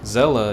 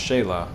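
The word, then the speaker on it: Xela: the list is Zella it's not a z though it's an X don't worry I didn't skip anything Zella is actually pronounced Shayla over in second ward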